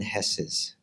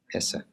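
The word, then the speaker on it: Hesse: of you read Herman hess's sarta and for Europeans I'm probably mispronounced that you say Hess is that how you say I'm in Germans here or Hessa Hessa okay Herman Hessa um um how many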